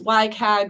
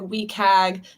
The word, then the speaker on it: WCAG: what's called y CAG it's pronounced differently in different communities why CAG we CAG wcag the web content